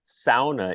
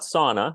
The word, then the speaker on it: sauna: yonin and you though you Tom pronounce SAA in The Finnish dialect not sauna like we sort of commonly hear SAA uh so if people are asking that is in the dictionary in two different pronunciations it's the only finish